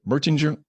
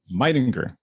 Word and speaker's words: Meitinger: Is it Mertinger? Meitinger. That's how you pronounce it.